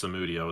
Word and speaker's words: Samudio: Nicholas Samudio has been signing up for our stuff for. Nicholas Samudio is actually how it's pronounced. We've been mispronouncing it for 10 years over here, and Samudio.